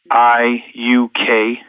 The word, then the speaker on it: Chladiuk: Spell it for us, would you? So I'll try. CHLADIUK, Chladiuk.